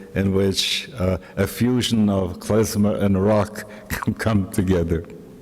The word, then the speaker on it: klezmer: I found in Poland later on that there was a resurgence of klezmer music. They pronounce it klezmer, because in German a Z is pronounced Z, yeah, klezmer music.